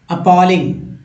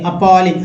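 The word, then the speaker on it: appalling: Next है अपॉलिंग। अपॉलिंग का अर्थ है सही करेक्ट वे में उच्चारण सीखिए, अपॉलिंग, अपैलिंग नहीं, अपॉलिंग मीन्स भयावह, भयानक, डरावना, अपॉलिंग।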